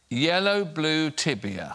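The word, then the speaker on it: я люблю тебя: color yellow blue tibia it's Russian for I love you yeah would you go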